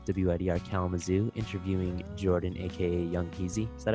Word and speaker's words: Yung Heazy: Well, this is Kyle from WIDR Kalamazoo interviewing Jordan, aka Young Heazy. Is that how you pronounce it? Yung Heazy.